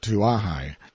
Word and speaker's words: Kauai: In due course of time our journey came to an end at Kauai, usually pronounced Tuahai, and before we find